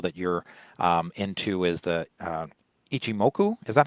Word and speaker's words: Ichimoku: And another thing that I know that you're into is the Ichimoku. Is that how you pronounce it? Ichimoku clouds?